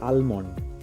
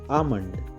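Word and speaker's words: almond: একটা ওয়ার্ড যেমন হচ্ছে আমরা বলে থাকি আলমন্ড আলমন্ড এটা কিন্তু ভুল উচ্চারণ এর কারেক্ট উচ্চারণ হবে আমন্ড এল টা সাইলেন্ট থাকবে আমন্ড তেমনি আরেকটা ওয়ার্ড আছে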